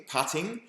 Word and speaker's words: putting: Pudding, puddle, putting, putting, yes at golf, it rhymes with shutting.